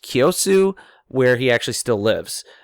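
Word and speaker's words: Kiyosu: I believe it's pronounced Kyosu, where he actually still lives.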